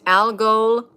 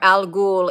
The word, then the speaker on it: Al-Ghul: It's Al-Ghul or Al-Ghul in Arabic, the Ghul.